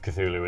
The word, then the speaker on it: Cthulhu: As we know from Dom Allen, the correct pronunciation of Cthulhu is Cthulhu.